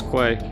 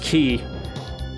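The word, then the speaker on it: quay: in the old video i think i pronounced it as qui i know it looks like that right but it's but it's a pronounced key it's a dock of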